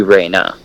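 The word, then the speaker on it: Rana: can now confirm that her name is spelt R a n a so that would be Reina mm-hmm some of them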